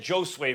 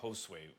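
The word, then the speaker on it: Josué: show improvement or III said Joe sway Vargas because I wrote it down phonetically for me but kept the J instead of saying Josue Vargas sorry about that Tim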